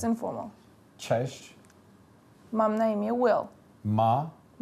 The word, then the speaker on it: Cześć: You would say it like, cześć, mam na imię Will.